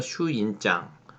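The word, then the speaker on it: 朱印状: 같은 경우에는 휴인장, 뭐 붉을 주자가 일본 발음으로 슈라고 발음이 되는 것 같아요. 그래서 붉은 도장이 찍혀 있다, 주인이 찍혀 있다 해서 슈인장, 슈인이라고 하죠.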